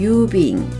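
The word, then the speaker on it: 郵便: 그래서 우주를 우주라고 했고요 우편우와 넉넉할 운은 일본 음이 길게 읽었죠 유라고 읽어서 우편을 유빙 유빙이라고 하고요 넉넉한 우를 써서 우수는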